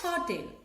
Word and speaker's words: hotel: Dash hotel. Here, the beginning letter H, it is not silent.